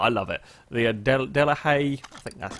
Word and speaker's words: Delahaye: this crazy-looking car I love it the Adel delahaye that's how it's pronounced yeah thanks heads to be done' hey